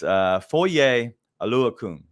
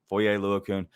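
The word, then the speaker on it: Foye Oluokun: So it's Foye Aluakun. That's it. Foye Aluakun.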